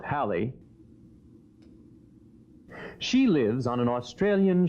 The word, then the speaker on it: Halley: Now Sally, who, incidentally, is proud that her name rhymes with Halley, she lives on an Australian sheep farm.